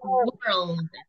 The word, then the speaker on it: world: The pronunciation of this one is like this. World. Mundo, world. Okay? Okay. And this one, esta, se pronuncia tal cual. Word. Word. Word. Entonces, cuando no decimos la L en el mundo, estamos diciendo esto. So we have to be careful.